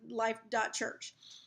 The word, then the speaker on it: Life.Church: We're going to have to put all that stuff in the seat backs again with our new stuff that say Life.Church, and the dot is silent.